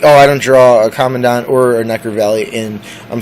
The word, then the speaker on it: Commandant: Believe it or not, it's actually called Commandant, so I've been pronouncing it wrong the whole time, and an 8-year-old girl told me that.